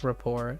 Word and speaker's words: rapport: is this a French word that's why it's pronounced raport like it's spelled this way I swear if